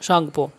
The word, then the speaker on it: Tsangpo: ठीक है, ऐसे इसका स्पेलिंग है, TSANGPO, शांगपो।